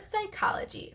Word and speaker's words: psychology: do that opposite reverse psychology remember it's pronounced psychology even though it starts with a P so that's how people's